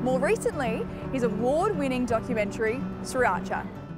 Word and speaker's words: Sriracha: Three very distinct syllables. Sriracha.